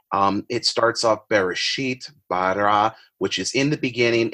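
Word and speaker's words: בָּרָא: The technical form of the verb would be pronounced bara. It's in Genesis chapter 1, verse 1. It starts off Bereshit, bara, which is in the beginning, and then you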